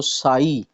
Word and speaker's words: psi: Function जो है वो साई लिखा जाता है, साई। ठीक है, ये PSI, ठीक है, P साइलेंट है और हम इसको साई पढ़ते हैं।